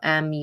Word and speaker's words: Murdaugh: You have to spell Murdaugh. But down in South Carolina, they say Murdaugh.